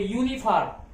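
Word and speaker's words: uniform: अब यूनिफॉर्म में आप समझ गए होंगे, यूनिफॉर्म, यू का उच्चारण क्या हो रहा है? यस है, यूनिफॉर्म, यहां क्या लगाएंगे?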